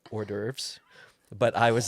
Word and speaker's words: hors d'oeuvres: And I go in there, and I remember grabbing their what I thought was Horvadorves. Apparently, you pronounce it hors d'oeuvres.